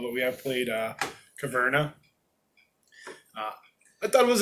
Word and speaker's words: Caverna: how you pronounce it it's carvana no that'd be caverna yeah we didn't sell